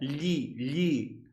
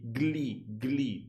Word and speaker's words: gli: GL, yeah, gli. While most people will say glee to say the article, gli.